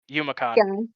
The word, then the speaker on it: Yumicon: You say Yumicon. Yumicon. Like Ya. Yes. Yep. Like Johnny Yuma.